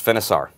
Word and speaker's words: Finisar: This other one, tell me if I'm pronouncing this right. Finisar? Yes, Finisar.